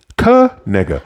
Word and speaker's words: Kaniga: No one had money on his name being pronounced Kaniga.